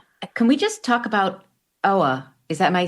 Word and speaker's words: Oa: Can we just talk about Oa? Am I saying it right? Oa?